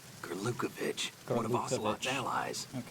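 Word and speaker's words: Gurlukovich: Gerukovich. One of Ocelot's allies. Okay, now we know how to pronounce that name.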